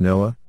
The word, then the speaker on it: NOAA: That's a count of only the inland windstorms, as NOAA, pronounced NOAA, sets hurricanes aside for their own category, and last year that added another 7.